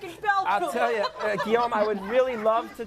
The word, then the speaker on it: Guillaume: I'm saying your name wrong. Yes. Did I say it right? You don't say my name right. It's Guillaume.